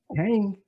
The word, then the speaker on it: Kang: They say it's like QENG, is like King or something like that, the way you pronounce it. Kang, it's Kang's shit.